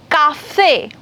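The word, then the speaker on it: café: And the hard vowels A, O, U, whensoever they come together, they produces the hard sound K. Here, K, K, K sound. It's harder because it takes effort to pronounce K. For example, cafe, code, veku, right?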